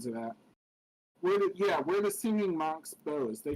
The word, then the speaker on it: BOZ: But I was getting a kick out of the BOZ because it was being pronounced like Bose, BOSE, which is a company that makes speakers. Yeah, I caught on to that when I was looking at it.